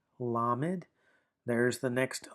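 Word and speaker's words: lamed: Now, we have lammed. lammed.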